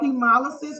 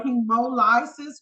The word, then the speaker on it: hemolysis: these words okay so hemolysis or hemolisis however you want to pronounce it to help you remember